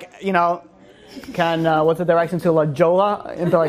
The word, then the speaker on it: La Jolla: You know, like, the whole silent letters, I didn't, you know, didn't really. It's L-A-J-O-L-L-A. J-O-L-L-A. But it's not silent. It's Spanish.